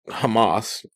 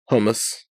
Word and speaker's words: hummus: us here you know he called it Hamas even though it was Hummus right I probably don't